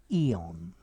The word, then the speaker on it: aeon: noun very often plural eons notice you can also spell it a e o n but i would still say eon okay an eon is